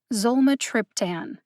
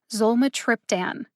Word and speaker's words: Zolmitriptan: four syllables in zomatryptan the syllables with the emphasis are zol and trip zolma triptan zole has the secondary emphasis and trip has the primary emphasis that means that i put more emphasis on the syllable trip than any other syllable in zulma triptan